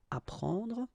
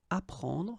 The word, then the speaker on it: apprendre: The first one, ap, so ap, you will get apprendre, apprendre, okay, you don't pronounce the double P, apprendre, so here is what it means.